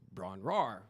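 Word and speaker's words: Bron-Yr-Aur: known as Bron RAR which I had mispronounced this before we decided to put a name on this I had mispronounced this easily for 30 years until I researched it and it's the why is silent so in my head I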